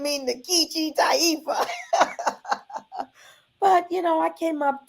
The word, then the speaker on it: Nkechi: that I was not pronouncing it correctly. It really would be Nkechi. It's a name from West Africa, Nigeria, and really should be Nkechi.